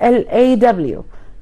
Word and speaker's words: law: law L-A-W يعني القانون, غير كلمة low اللي هي L-O-W معناها منخفض أو حاجة تحت, فنفرق في النطق شوية فهنقولها law. law.